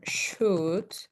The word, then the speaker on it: should: And remember should and would. We never pronounce the L.